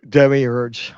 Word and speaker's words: demiurge: I don't know how that how do you say that word de demi urge demiurge yeah I don't I don't know